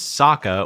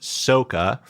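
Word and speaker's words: Sokka: Jackson Rathbone whose name in the cartoon is Saka was pronounced Soka Uncle iro was pronounced iro Agni Kai became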